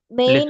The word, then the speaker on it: मैं: This is read in मैन no. In English it is read as man. This is not English pronunciation. This is Hindi pronunciation. So this is okay not main in Hindi. This is मैं मैं।